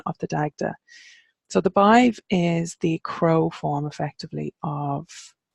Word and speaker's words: Badbh: So Macha we've mentioned up in Ulster, and we have Bive then, and you might hear that pronounced as Bav sometimes, but Badbh is the modern Irish version of it, and it's very similar to the name Sive, which is the same but just with an S instead of a B. So that's why I pronounce it Bive, because that's how it reads to me.